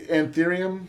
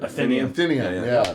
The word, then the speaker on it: Atheneum: It was at the Anthurium Hotel. Is that how you say it? Atheneum. The Atheneum Hotel.